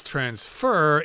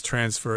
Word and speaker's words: transfer: of course you could also pronounce this word as transfer if it's a verb but very few people actually say it that way we use transfer as both the noun and the verb and yes they can